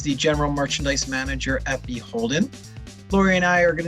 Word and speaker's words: BHLDN: So, Beholden, uh, which is spelled BHLDN, but said Beholden, um, is Anthropology's wedding brand, and we've been around since 2011.